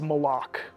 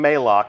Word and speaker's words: Malok: absence has left uh and that is malok malok right official pronunciation confirmed so Mal if you hear anybody saying Mao send them right here to the archive of this stream our design leaders told us it's malok we actually have a